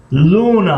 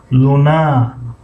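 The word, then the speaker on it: луна: لونا این کلمه رو اگر ما هجای یکمش رو زیاد تلفظ کنیم خطا میشود. مثلا لونا اگر بگیم خطا است. لونا درست است.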